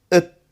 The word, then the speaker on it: at: At becomes it.